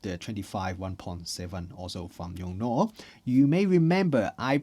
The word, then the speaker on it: Yongnuo: on, I will correct myself and I will pronounce the brand name as Yongnuo. But let's see whether I remember to do it all the time because I have been calling them as Yongnuo for quite a while.